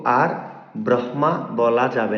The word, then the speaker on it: ব্রহ্মা: তখন হ এর উচ্চারণ নাসিক্য ব্যঞ্জনের পরে করতে হয়। তো আর ব্রহ্মা বলা যাবে না।